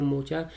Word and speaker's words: Mocha: और मोका कहा जाता है, मोखा भी कहा जाता है उसे, जनरली वहाँ के प्रोनाउंसिएशन में उसे मोचा कहते हैं।